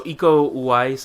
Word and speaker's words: Iko Uwais: So Iko Uwais, I think his name is pronounced.